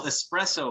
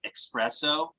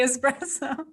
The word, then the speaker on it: espresso: couple espresso machines yes i had to pronounce it right because my wife always bags on me because i talk too fast and i say expresso no nicola you better say espresso espresso espresso yeah uh